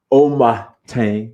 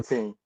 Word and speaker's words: Amoateng: Nana Omateng. Did I say it right? Amo Amoateng.